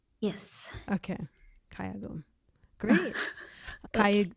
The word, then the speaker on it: 가야금: How do you pronounce the name of the instrument? 가야금. Kayagum. Yes. Okay. Kayagum. Great. Okay. Kayagum.